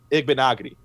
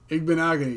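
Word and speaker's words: Igbinoghene: I think that would have been a better move, but I did understand the move to draft Igbenogany. I think I said it right that time. Igbenogany, yep, that's it.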